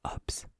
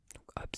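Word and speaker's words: Hobbes: deuxème citation c'est de HS HS ça s'écrit h o b b e s il nous dit c'est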